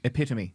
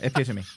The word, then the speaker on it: epitome: Um, epitome is is how that's pronounced. What epitome. Epome. Yeah, epitome. It's it's from the Greek.